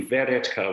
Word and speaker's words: Weretka: your last name officially veretka with a v at the start verretka okay all right everybody